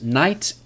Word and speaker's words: knight: Yes, knight, K-N-I-G-H-T, like the old warriors with the swords. That's not pronounced with a K, right.